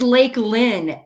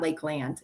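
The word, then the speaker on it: Lakelynn: But it's funny when I do voice texts and I say her name, it always spells it Lakeland. But it's not Lakeland. It's Lake Lynn.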